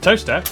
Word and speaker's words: Towcester: Mousehole, Next, travel north up to Towcester, Toaster, then a quick jaunt to Gotham, Gotham, followed by a stop in Quernmore, Quorma, before finishing up in Alnwick.